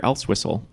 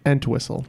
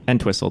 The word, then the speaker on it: Entwistle: something else, but he's an, no, that's Peter Elswhistle.